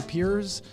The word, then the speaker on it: Pires: name in the world Pires now I wonder if you pronounced it the way I do as you say if hires you say piers a lot of people